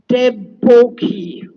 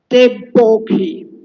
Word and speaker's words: Devaki: So in Bengal, the R is pronounced as O. They even spell my name, Deboki, with Deboki, with an O. Devaki.